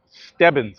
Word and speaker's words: Stebbins: Stebbins, I finally figured out how to pronounce it, who sculpted the angel, the statue in Bethesda Fountain in Central Park.